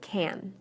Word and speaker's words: can: the a is pronounced when I say can inside the sentence I shortened the a listen carefully to these sentences and pay close attention to the word can I can hear you the team